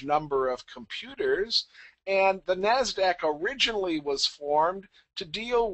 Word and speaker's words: NASDAQ: The other large exchange we have is the NASDAQ. And again, that's the usually accepted pronunciation, and that's the National Association of Securities Dealers Automated Quotation System.